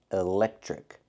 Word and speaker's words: electric: We see the pronunciation, electric. The TR makes the ch sound like in chicken, plus the R, trick.